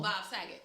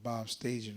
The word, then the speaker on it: Bob Saget: Oh, Bob Saget. Bob Saget. What Did you just call him? I call that nigga Bob Staging or something.